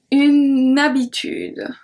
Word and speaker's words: une habitude: And if we link, une habitude, une habitude.